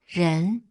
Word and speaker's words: 人: It's pronounced 人 and it means person or human being.